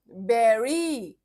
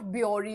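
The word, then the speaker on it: bury: बेरी नॉट ब्यूरी और ब्यूरी और whatever. बुरी भी नहीं नेवर बुरी।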